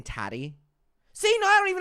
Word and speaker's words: Tati: Adam, it rhymes with fatty.